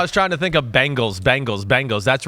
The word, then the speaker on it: Bengals: Until Chris can prove his ability to pronounce the Bengals correctly and not as the Bangles, please suspend Chris Simms without pay. Damn, you want to suspend me? I'll try to work on it. Bengals.